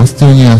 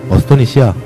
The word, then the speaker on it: 어스토니시아: 국내 게임은 뭐 있었는데 그래도 특별히 있는 게 국내 게임은 뭐 창세기전이나 뭐 어스토니아 스토리 같은 거. 어스토니시아. 아, 어스토니시아 스토리. 이 발음이 참 어려워, 이 게임.